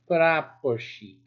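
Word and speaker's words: прапорщик: The treatment of the SH and the CH together. We only pronounce one. So try that. And we'll be ending soon. Praposhik.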